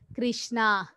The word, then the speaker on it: Krishna: hear the Mantra and you should pronounce each name very clearly har Krishna R not like har kishish not like that some people will chant